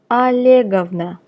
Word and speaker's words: Olegovna: Please note the pronunciation. Olegovich, Olegovna. Vladimir, Vladimirovich, Vladimirovna.